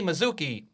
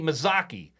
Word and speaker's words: Mazzocchi: to say hello to us along with Anthony Mizuki I said your name wrong again didn't I Anthony mazaki correct maak why can't I get that right